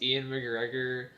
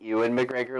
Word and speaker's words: Ewan McGregor: it has John Cleese, Ian McGregor, Wait, you mean Ewan McGregor like the Ewan McGregor like Obi-Wan Kenobi? yes, exactly. Okay. I can't really pronounce his name, so I just call him Ian.